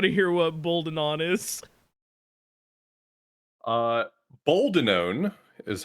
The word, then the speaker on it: Boldenone: Boldenone is how it's pronounced. Boldenone.